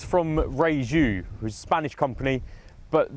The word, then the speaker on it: Rieju: new and it's from Raju who's a Spanish company but they pronounce it Ray ooh because there's no J in Spanish anyway this is the